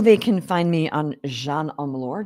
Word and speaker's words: Jeanne: LinkedIn Instagram and Facebook my name very simple Jean that's how you pronounce it right beautiful name beautiful